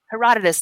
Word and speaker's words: Herodotus: historians, Herodotus.